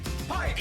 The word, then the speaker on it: Pike: Pike. Even though it sounds like pipe. Pike. It's with a K, it's pronounced Pike.